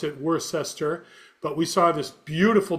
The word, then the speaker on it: Worcester: If you're not from there, you pronounce it worcester.